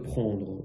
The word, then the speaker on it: prend: pas de T donc les trois se prononcent de la même manière prend prend prend et au pluriel on